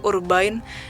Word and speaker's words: Urbain: Prancis yang bernama itu nama aslinya sih urbain itu kan French gitu jadi bacanya kayak gitu kalian bisa search di